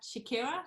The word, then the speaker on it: Chekera: So I am so excited to have with me today Chekera. Do I pronounce that right?